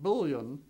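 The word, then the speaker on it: bouillon: And that's the way Americans say it, bullion, right?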